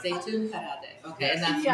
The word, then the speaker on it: Zeytoon: I want to pronounce Okay, that. I was They excited. call that Zeytoon, Parvardeh, or marinated olives.